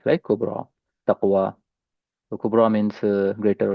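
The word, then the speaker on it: كبرى: Now this kubra there is this y does not have any dots and then it sound uh and it's pronounced as a long a kubra ta.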